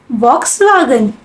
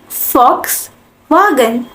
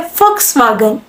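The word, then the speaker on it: Volkswagen: Pronounce कर रहे होगे, इसे क्या प्रोनाउंस करते हैं? वॉक्सवैगन। नो। अब जर्मन आप सीख रहे हो तो इसकी सही प्रोनाउंसिएशन सीखते हैं। इसको हम कहते हैं फॉक्सवैगन। जर्मन लैंग्वेज के अंदर हम वी को फ प्रोनाउंस करते हैं, तो ये हो गया फॉक्सवैगन।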